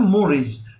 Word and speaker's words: mores: में भी आ गया, लिख लीजिए MORES, इसका प्रोनाउंसिएशन होता है मोरीज।